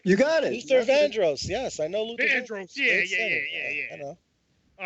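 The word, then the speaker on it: Luther Vandross: Luther man Luther vro I believe I can't pronounce his name you got it Luther vandros yes I know Lu all right I think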